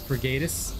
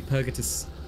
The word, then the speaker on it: Purgatus: I use in Darktide, the actual name is Purgatus, sorry. But I pronounce it as Purgatus and piss off everybody. But it's actually Purgatus. Purgatum. So if you look at the actual Latin pronunciation, I'm pronouncing it hella wrong.